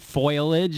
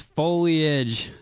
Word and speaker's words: foliage: It's not foliage, it's foliage.